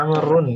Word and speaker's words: عمرو: Dan bacanya Amrun pakai tanwin.